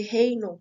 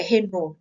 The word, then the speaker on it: Raynaud: portadores de coagulopatias, o fenômeno de Raynaud, que está ilustrado nessa figura, e é uma figura com o fenômeno de, na verdade, é Renault, né, pronunciei errado.